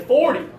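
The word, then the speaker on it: forty: Okay, for these ones, when we're talking about the smaller number, I like to put the accent on the last syllable. And the bigger numbers, the accent is on the first syllable, okay?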